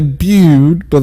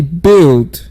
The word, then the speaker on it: build: he say build now most people will say Buda that's totally wrong so you should say build can i hey try